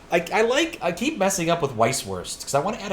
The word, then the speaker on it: Weisswurst: add a T to Weist, but it's not. It's Weiss. Weisswurst. Or Weisswurst. But I want to add a T on the end of the first syllable. It's not right, but it's bugging me.